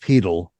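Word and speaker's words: pedal: learn from you yeah well the word is pronounced petal p e d a l and refers to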